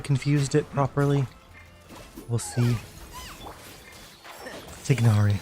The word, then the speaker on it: Tignari: Okay, I think Tainari confused it properly. We'll see. Tignari. Ah, why do I always mispronounce it?